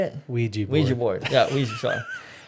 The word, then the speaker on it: Ouija: It's like they say, like, don't ever play with the Luigi board, right?